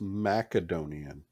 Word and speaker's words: Macedonian: I tried to speak some Macedonian, but they spoke kind of English, didn't they? I don't even remember. actually, it's a hard C. It's Macedonian. Yeah, whatever it is.